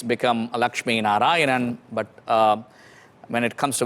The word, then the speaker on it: Lakshmi Narayanan: it or i can say it's become a lakshmi narayanan but when it comes to western part of